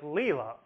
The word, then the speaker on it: Leila: So take an English name like Leila. The first part, le, is louder and longer than the second syllable, la. That shows that side has stress.